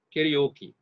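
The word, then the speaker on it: karaoke: 제 2음절과 제 4음절을 강세를 주는 거예요. 어떤 것이 더 듣기 좋죠? 여러분들 바로 알 수 있죠. 캐리오키가 훨씬 듣기 좋죠. 훨씬 듣기 좋고 말하기 좋죠. 따라서 이렇게 발음합니다. 캐리오키 이런 식으로.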